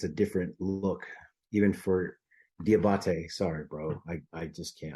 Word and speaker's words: Diabate: And I cannot pronounce that middle linebacker's name to save my life. Mumad Diabate. Diabate.